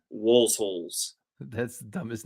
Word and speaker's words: Waelzholz: It's called Walsholz. It's German. It's WAELZHOLZ. It's pronounced Walsholz.